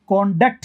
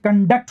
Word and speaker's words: conduct: इसको आप कॉन्डक्ट कहते हैं तो नाउन है, अगर स्ट्रेस यहाँ डाल देते हैं शुरू में, कॉन्डक्ट, कॉन्डक्ट। और अगर स्ट्रेस यहाँ डालते हैं बीच में तो फिर एक कंडक्ट हो जाता है, वर्ब, कंडक्ट। कॉन्डक्ट बोलेंगे तो ये नाउन है, कंडक्ट बोलेंगे तो ये वर्ब है।